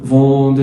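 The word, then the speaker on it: vendre: بص الأو ان اون تبقى فوندر يعني يبيع.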